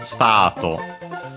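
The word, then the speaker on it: スタート: The accent is on the ta. The U is barely heard if at all, of course, being between unvoiced consonants, so yeah, even more similar to English. Stato, and accent on the ta, just like in English.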